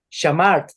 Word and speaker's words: shamart: pastor, Si se dan cuenta, miren, si se dan cuenta aquí, así quedaría shamart. ¿Se da cuenta que no es shamarte? Es shamart.